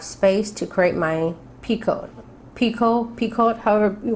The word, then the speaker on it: picot: space to create my Piko Piko Piko it however you want to say it I think it's a French word is picot the T is silent so you'll create your